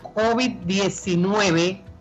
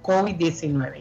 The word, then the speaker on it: COVID: Por eso lo correcto es decir la COVID-19 mejor que el COVID-19. ¿Ya me copia? Ahí estamos. Ahora, respecto a la pronunciación. En español la pronunciación mayoritaria es aguda, COVID. Y en inglés es llana, COVID.